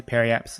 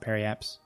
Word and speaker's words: periapsis: cool you may notice I just say periapsis sometimes I think a lot of people do that it's periapsis but I pronounce it perry apps sometimes I don't put this